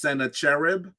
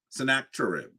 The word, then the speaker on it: Sennacherib: the battle against um sometimes his name is um pronounced Senator cherib or sennacherib um and so Senate Senator chirp is the way I say his name um he actually uh